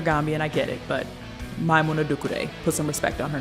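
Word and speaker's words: Maimouna Doucouré: Or Maimouna Dukure. That's how you say her name, because some of y'all were struggling.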